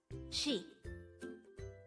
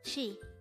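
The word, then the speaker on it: 시: foreign this is composed of just one syllable and this is pronounced as she she the Korean term she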